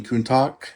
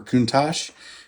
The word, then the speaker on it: Countach: have a whole bunch of these Fujimi Lamborghini Countach, or Countach, however you want to say it. I've always said Countach, and I hear it many times, but I've heard that the correct pronunciation is actually Countach.